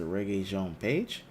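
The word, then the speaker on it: Regé-Jean Page: Jean page it said reggae so it's a reggae Jean page let me see overall reggae Jean pay people mispronounce stay tuned to the channel to learn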